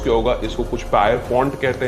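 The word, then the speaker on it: Pierpont: John John peppermint Morgan मैंने शायद इसको गलत प्रोनाउंस किया होगा इसको कुछ पायर पॉइंट कहते हैं कोई पियर पॉइंट कहते हैं मैं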